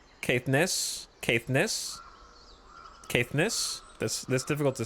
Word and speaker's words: Caithness: You had it right, but the stress is on the Ness. Caithness.